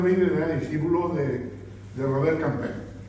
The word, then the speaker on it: Campin: pintor Van der Weyden era discípulo de Robert Campin, o Campin, según queramos pronunciar.